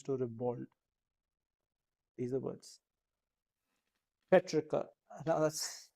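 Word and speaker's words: petrichor: rivald these the words Petra now that's it's not petri chore remember that it's Petra so what is it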